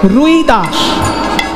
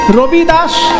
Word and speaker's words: রবিদাস: সুন্দর ভজনটি যিনি লিখেছেন বাবা তাকে বাঙ্গালীরা বলে রুইদাস কিন্তু হিন্দি উচ্চারণে রুই দাস নয় হিন্দি উচ্চারণে রইদাস র হই আসলে সেটা হবে রবি রবি মানে সূর্য রবিদাস সূর্যদাস সেটা হিন্দি উচ্চারণে রবিদাস সে রদাস আর